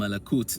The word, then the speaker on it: malak: Malak as the root, actually, it's actually pronounced malak. This is the original way it's pronounced. So the root actually is lam, alif, kaf. Now, with time, people saying malak, malak, malak, malak, malak, malak, it becomes malak. It sounds like malak.